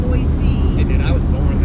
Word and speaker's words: Boise: Boise. There's no C in Boise.